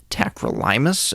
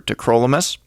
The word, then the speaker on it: tacrolimus: I have heard it pronounced tacrolimus as well. I prefer tacrolimus.